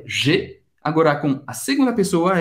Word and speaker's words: J'ai: J'ai. Presta atenção na pronúncia do J. J'ai. Você vai fazer tipo um sorriso. Um sorriso. Olha isso. J'ai.